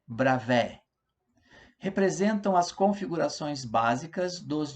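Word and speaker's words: Bravais: vamos estudar agora os retículos de brava é a pronúncia é bravo representam as configurações básicas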